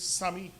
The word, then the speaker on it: Sami: It's Sami.